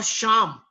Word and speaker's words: शाम: अब हमारे जो युवा एक्टर है सा जो बोलते हैं सा, सामान और शाम, तो शाम में जो श है तालव्य श जिसको बोला जाता है, जो तलुआ से बोला जाता, यानी स और श के उच्चारण में जो फर्क है उसको समझिए।